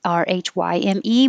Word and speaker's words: rhyme: 31, the traditional spelling has the Y, R-H-Y-M-E, but I know it can also be spelled I-M-E, like lime, and that makes it a lot easier because it really sounds like lime, rhyme, I, rhyme.